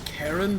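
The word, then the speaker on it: Charon: that's kind of funny whether you pronounce it as Karen the name or as Kon the Fairman of the dead either way that's pretty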